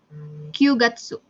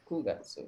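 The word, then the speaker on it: 九月: Kyugatsu. Yakin? Terus tadi gimana? Kugatsu. Kugatsu ya. Bukan Q tapi Kugatsu gitu.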